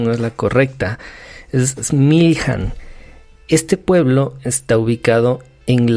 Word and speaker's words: Smiljan: Entonces, pues hablando un poquito de él, Nikola Tesla nació en un pueblo, y me disculpo si la pronunciación no es la correcta, es Smiljan.